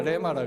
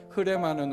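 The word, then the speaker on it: ῥῆμα: 보통 어디 다른 데 가면 다 레마라 그래요. 그런데 흐레마는 우리 이전에 섬겨 주셨던 우리 조영기 목사님이 항상 묵음을 흐라고 발음해야 된다 그래서 흐레마 이렇게 하셨는데 옛날 생각이 나더라고요.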